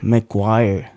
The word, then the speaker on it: McGuire: how do you say your last name Maguire McGuire yes sir fancy last name if you ask